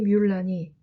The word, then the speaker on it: Mulan: 이 뮬란이 MULAN, 물란이라고 하는 한어 병음의 영어식 발음이라는 것을 알 수 있을 겁니다.